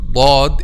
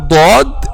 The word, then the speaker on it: ض: of the tongue, but when you pronounce letter dad we use the back sides of the tongue with the molars.